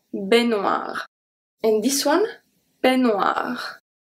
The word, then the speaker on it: peignoir: And this one, peignoir. EI make the sound E, exactly the same as AI.